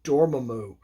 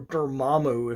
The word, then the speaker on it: Dormammu: to the death with the dread dormammu or dermammo if you the movie i don't know why they pronounce it that way it's so weird but dormammu so like